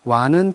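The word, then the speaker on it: は: 특히 여기서 와는 표기는 하로 쓰이지만 주격으로 쓰일 때는 와로 발음한다고 제가 여러 번 말씀드렸습니다.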